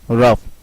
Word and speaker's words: rough: Say daughter, night, light, rough. Do you notice? Well, in first three, we are pronouncing GH as H. But in the last one we are pronouncing GH as F, like in rough.